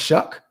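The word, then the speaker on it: Shough: a sleeper Kino shuck is pronounced shuck Tyler shuck [ __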